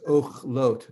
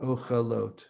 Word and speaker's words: ochlot: It's just like the one underneath it is ochlot, not ochalot. It's ochlot. So the accents where the two little dots are below.